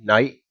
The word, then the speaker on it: knight: Does anyone know why the K is silent in the word knight, like the Knights Templar? Why is the K silent? That's a reference to the Kabbalah. And the reason why it's silent when you pronounce night is because of their